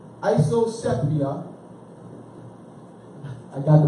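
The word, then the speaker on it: isopsephy: Isoceptia. Isosepia. I got the pronunciation down right.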